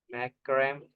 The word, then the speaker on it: Macrame: मैक्रम पढ़ते हैं लेकिन उसको प्रोनाउंसिएशन कुछ अलग आता है। अरे कैसे चोटी डालने वाला स्टाइल भी था सर ये। मैक्रोमे। Macrame. मैक्रम है, जैसा रेज्यूम को रेज्यूमे बोलते हैं ना, तो ऐसा मैक्रम